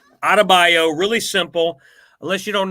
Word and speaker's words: Adebayo: It's not that hard to pronounce. It's Adebayo. Adebayo, really simple, unless you don't know what's going on in the world.